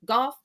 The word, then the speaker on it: Gauff: wanted to say that Coco Gauff, was it Golf? Gaff? Yeah, golf. However you pronounce her last name.